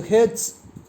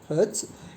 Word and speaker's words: hertz: to 20 000 heads so heads this should be pronounced as hertz it is the unit